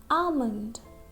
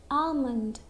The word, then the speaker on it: almond: Almond. Okay? Remember, almond. This L is silent because before L there is a vowel, or there is letter L after a vowel. So we'll say almond, almond.